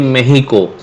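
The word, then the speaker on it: México: berikutnya when Meksiko atau kalau orang sana membacanya di mehiko ya bukan Meksiko tapi kalau bahasa Inggris Mexico Mexico City California To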